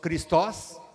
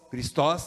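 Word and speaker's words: Χριστός: No grego o Xristo, Xristo, Xristos, Xristos em grego, né?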